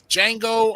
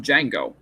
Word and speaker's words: Django: What I don't understand is why was his name Django and it was spelled with a DJ. DJ A N G O. Yeah, but the D is silent.